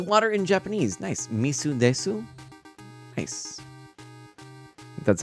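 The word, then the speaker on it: 水です: ah okay it's water in Japanese nice nice misu Desu nice that's how you say it very cool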